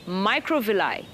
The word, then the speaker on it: microvilli: sensitive microscopic hairs called microvilli macro microvilli it's pronounced my Crow will I what do they do